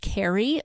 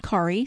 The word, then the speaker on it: Kari: southernland it may be Carrie Southerland because it's k a r i generally speaking when you see that name it's pronounced Carrie um most of the